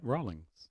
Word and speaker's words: Rawlings: Today I have with me Rawlings. Rawlings? You said it right, Rawlings, like Yeah, raw that's what links.